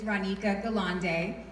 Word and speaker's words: Ronika Galante: So, for those of you that don't know me, my name is Ronika Galante, and the N is silent.